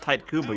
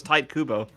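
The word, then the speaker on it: Tite Kubo: I actually noticed this recently it is actually pronounced type Cuba you're right for the longest time I thought it was no it's tight Kubo yeah I know crazy but it's true about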